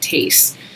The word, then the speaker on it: Thies: And I think she's pronouncing it Thies. I once had a student who had a name that was first name spelled the same way and they pronounced it Tace. So I'm just curious, but I believe it's Thies, and this is a